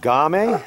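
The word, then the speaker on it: Ghami: the upper Mustang we're leaving the village of game right yeah yeah I pronounce the cocaine yeah you pronounce it right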